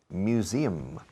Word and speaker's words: museum: Pues añades SIM a los toros Miura y tenéis la pronunciación de museo en inglés. Museum. ¿Ok? No quiero volver a oír museum. ¿Ok? Museum. De hecho, la S tiene un zumbido de Z.